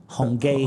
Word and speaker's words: Hong Kee: They always write it K-E-E, but it's actually pronounced gay. Hongay.